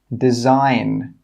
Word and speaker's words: design: Number 7, design, design. Number 8, island, island. Number 9, psychology, psychology. Number 10, conscious, conscious. Okay, you can see now that the letters in red are silent letters.